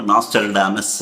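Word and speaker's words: Nostradamus: பொறுமையா இருந்து கேட்டீங்கன்னா நல்லது நாஸ்ட்ராடமஸ் ஒவ்வொருத்தரும் ஒவ்வொரு மாதிரி உச்சரிப்பு சொல்லவாங்க நாஸ்டல்டமஸ் அப்படின்பாங்க நாஸ்ட்ராடமஸ் அனேகமா உங்க எல்லாருக்குமே தெரிஞ்சிருக்கும் நான் என்னுடைய உச்சரிப்பின் பிரகாரம் அவர நாஸ்ட்ராடமஸ் நாஸ்ட்ராடமஸ் என்றுதான் இந்த பதிவில் நான் சொல்ல போகிறேன் இவர் என்ன சார் அப்படி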